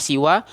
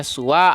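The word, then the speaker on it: سوى: Dalam artian siwa ini nanti itu bisa dibaca dengan beberapa cara. Ada yang membacanya siwa, ada yang membacanya suwa, ada yang membacanya sawa, seperti itu. Jadi dalam bahasa Arab itu banyak cara membacanya.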